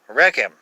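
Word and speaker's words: רחם: number 7355 uh and the same word is used for womb recam reckum uh the accent has changed uh to the first syllable and the vowels are changed from a to e but this consonants are the same and that's a number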